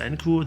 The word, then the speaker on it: Enku: Enku pronounced Enku.